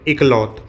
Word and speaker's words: Iqaluit: है नूनावुट का ये वाला पोर्शन, ये है इकलौत। इसकी स्पेलिंग क्या होती है, IQALUIT।